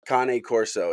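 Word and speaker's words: Cane Corso: Uh, Kane Corso is how they're pronounced.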